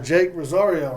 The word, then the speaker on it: Jake Rosario: right now we got Jake Rosario right yes sir did I say it right yeah you said it right see yes boom first